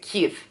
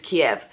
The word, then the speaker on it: Kyiv: And also our tour guide says something about the pronunciation of Kiev, because they pronounce it Kyiv. Is it Kiev? K-Y-I-V, Kyiv. Whereas the English pronunciation is Kiev.